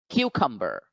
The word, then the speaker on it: cucumber: cucumber we find that the stress mark the apostrophe is over the first syllable q so the syllable q becomes the stressed or accented syllable so we should pronounce the word cucumber cucumber cucumber here you